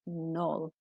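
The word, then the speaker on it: knoll: keep the original spelling but we don't pronounce the k so it's a silent k and it's null um let's have a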